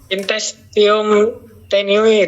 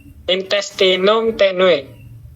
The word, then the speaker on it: intestinum tenue: Intestium tenue dok ah yang benar yang benar bacanya apa? Intestinum tenue.